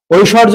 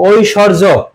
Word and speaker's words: ঐশ্বর্য: আছে সেক্ষেত্রে কি হবে এখানে ব ফলার উচ্চারণ হবে না কিন্তু সেই বর্ণটা দিতে হবে ঐশ তারপরে কি হবে